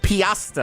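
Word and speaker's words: Peosta: Is it Lancaster, Paosta? Piasta, I believe is how we say that.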